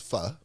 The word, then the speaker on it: pho: I hear people pronounce it as pho and not pho. No, it's pho.